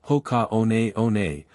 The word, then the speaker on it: Hoka One One: Hoka 111, pronounced Hoka on on was founded in 2009 by two French trail runners.